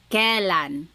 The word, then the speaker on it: kailan: Then the word kailan, when. You might hear some people say kailan. Sounds like an E, but it's technically spelled with an AI.